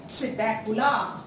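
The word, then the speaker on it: Psittacula: P silent रहता है इसके अंदर और हम इसको क्या कहते हैं, सिटैकुला।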